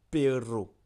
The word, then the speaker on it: perro: Je vais te donner quelques mots pour bien prononcer le air roulé. Il y a perro.